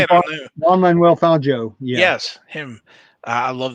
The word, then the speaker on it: Fangio: And also, I don't know if you saw this Juan Fungi. what how do you say? I kind of knew. I know as soon as you say Juan, it, I knew. Juan Manuel Fangio.